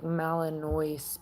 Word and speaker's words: Malinois: It's like Malinois, but Malinois, but it's spelled with N-O-I-S.